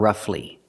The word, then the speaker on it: roughly: The GH makes the f sound, like flowers, rough, and roughly. It's rough plus ly, together roughly.